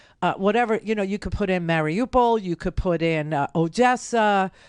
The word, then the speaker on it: Mariupol: you could do Mariupol, I call it Mariupol, they keep saying it wrong, and every time they say it wrong, I correct them on the TV, but whatever, you could put in Mariupol, you could put in